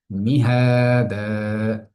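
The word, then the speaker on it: مهادا: আলাম নাজআলিল আরদা মিহাদা, এই আয়াতের মধ্যে আমরা কি কি দেখতে পাই? আলাম শব্দটির মধ্যে কোনো গুণা নেই। নাজ আলিল, আর ত স্বাভাবিক, কোনো টান নেই, গুণা নেই। মিহাদা, এই শব্দটির মধ্যে আমরা এক জায়গায় টান দিচ্ছি, সেটা কি?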